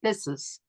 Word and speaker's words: phthisis: And he did so using the Greek word phthisis, and it's spelled Phthis. The PH is silent, so it's phthisis.